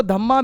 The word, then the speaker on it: धम्म: जिसको कहा जाता है धम्म की पॉलिसी। धम्म, ठीक है, जिसको धम्मा भी आप कह सकते हो, पर प्रोनाउंसिएशन उसकी धम्म होती है।